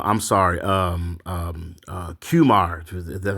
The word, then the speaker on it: Qimir: guy dagger uh I'm sorry um um uh cumar that's how you pronounce his name but um he had some